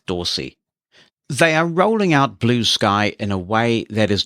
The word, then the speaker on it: Bluesky: attention of late is called Blue Sky that's how it's pronounced but it is all one word and there's no mixed case so when your screen reader says that it may well pronounce it as Bluesky even its name conveys